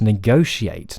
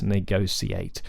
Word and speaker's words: negotiate: agree that it should be sh right it should be a sh it's negotiate not negotiate so there's your answer technically we shouldn't say any of these words in fact with an S we should say negotiate rather than negotiate which you hear terresa